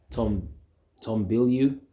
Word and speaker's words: Bilyeu: All right, and it was put up by Tom Bilyeu. That's how you pronounce his name.